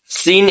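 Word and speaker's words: سين: ঠিক আছে, তাহলে এরপর আমরা একটা দেখি, যেমন ধরেন আমাদের এই যে সিন সিন, এটি একটি পাখির কিচিরমিচির আওয়াজের মতো করে উচ্চারণ করলে ভালো হবে, সিন এভাবে সিন, কিন্তু সিন পাতলা, এর মোটা হচ্ছে সদ সদ সদ, এটি হবে মোটা।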